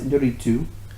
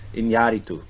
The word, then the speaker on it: Iñárritu: And you know what's interesting is that so this year you had Iñárritu, Alejandro González Iñárritu. Iñárritu, the accent is on the A. Iñárritu. The previous year was Alfonso Cuarón.